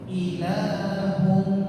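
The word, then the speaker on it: إِلَٰهٌ: Ketika gunnah di sini suaranya lewat hidung. Ilahun, jangan ilahu lewat hidung. Karena gunnah sautu yang berhubung tanpa hidung, suara yang keluar lewat rongga hidung.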